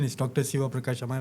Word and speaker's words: Sivaprakash: So the right pronunciation is Dr. Shiva Praash.